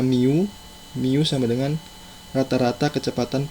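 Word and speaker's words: μ: tingkat kedatangan, dan simbol yang seperti U ini bacanya mu.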